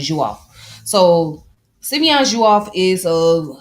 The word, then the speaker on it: Diouf: So the name is the Dio is pronounced as Jo. It has the J sound.